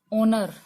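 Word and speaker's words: honour: अगर मैं यहाँ लिखती हूँ ओनर, ओनर होता है सम्मान करना। ठीक है, यहाँ पर H साइलेंट है, तो पहला अक्षर है ना साइलेंट, तो पहला अक्षर भी साइलेंट हो सकता है।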